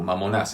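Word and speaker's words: μαμωνᾶς: en griego mamonas ok así se pronuncia en griego mamonas esto lo encuentran en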